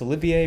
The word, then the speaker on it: Olivier: with this and then Lawrence Olivier or Lawrence Oliver some pronounce it differently and the thing was